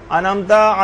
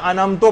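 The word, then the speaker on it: أَنْعَمْتَ: ہوں خدا نخواستہ غلطی، انعمتا علیہم کے بجائے انعمتو پڑھتے ہیں، اس کو انعمتو، یہ بھی غلط ہے۔ یعنی اس میں زیر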